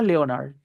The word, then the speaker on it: Leonard: La e y la o no suenan eo en inglés, suenan e. De hecho, este chico en esta serie The Big Man Theory, ¿cómo se llama él? Si lo han visto alguna vez en inglés, le han puesto cuidado. En inglés per no se llama Leonard. Leonard. Es solita.